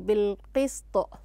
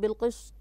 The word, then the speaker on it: بالقسط: نعم، أحسنتي أحسنتي أحسنتي بالقسط. نعم، ضبطت السين فلم تنطقها صاد، بالقسط بالقسط طبعا. ولاحظت معها ما شاء الله عليها، عندما وقفت على الطاء قلقلتها لأنها أصبحت ساكنة.